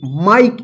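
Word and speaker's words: mike: ई, इसको क्या पढ़ेंगे, माइक। इसको मिक्के मत पढ़िएगा, ठीक है ना। क्यों, क्योंकि जो ई का उच्चारण नियम हम सीखे थे जिसमें ई तो रहेगा लेकिन ई का साउंड नहीं रहेगा, तो क्या था इसका रूल कि जब किसी वर्ड में लास्ट वाला अक्षर ई रहे और उससे पहले वाला वोवेल आई रहे तो आई का आई उच्चारण होता है, ई का उच्चारण नहीं होता है।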